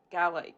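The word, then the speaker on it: Gàidhlig: So yeah, mo most Gaic speakers would say Gaic and most English speakers would probably say Gaelic unless I come at them with my wrath and say G.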